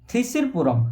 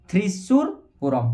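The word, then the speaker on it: Thrissur Pooram: ना ये आम हो थ्रिसिरपुरम है थ्रीसी उच्चारण करदे थ्रिशूरपुरम है थ्रीसिर नहीं बोले थ्रिशूर ओके थ्रिशूरपुरम है मुझे लिखि दूसरी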